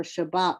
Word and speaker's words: Shabbat: So that's why we get the spelling for Shabbat with 2 B's. Now, sometimes it's pronounced in the middle of the word, especially if it has a shva underneath it and it's a dogish.